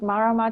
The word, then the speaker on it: Marama: Yes, Marama Trio. Mm. People often struggle to pronounce it. Marama Trio. Marama is a word from the Maori language, and it means moon.